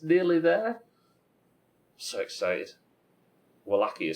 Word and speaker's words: Wallachia: Wallachia is how you pronounce, or how the closest my stupid English-speaking voice can get to pronouncing the actual region in Romania.